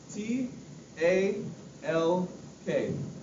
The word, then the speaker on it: talk: good job Gabriel So t a l k talk when you say talk when you think talk when you say talk think to you can't hear the L but it's spelled there like that same with something like